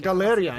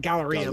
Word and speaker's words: Galeria: Galeria is how they pronounce it, right? I always think Galleria, but Galeria is the it's the real deal, honestly.